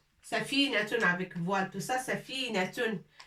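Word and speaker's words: سفينة: Un grand bateau, on l'appelle safinatun. Safinatun avec voile, tout ça, safinatun.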